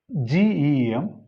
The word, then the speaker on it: gem: First word is GEM, second word is GERM. Now see the pronunciation. This is gem. Here it's a vowel A, as in bed A, gem.